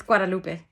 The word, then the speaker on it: Guadalupe: I don't know how to pronounce that in English, honestly. It's Guadalupe.